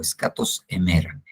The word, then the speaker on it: escatos hémera: Más o menos así como lo escribí, se pronuncia en el griego, escatos emera.